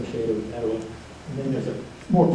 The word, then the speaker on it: Etowah: And then from there they went down to Itaba, chieftain of Itaba, Etowah, Tawa, Etowah. It's the same name, just a slightly different pronunciation.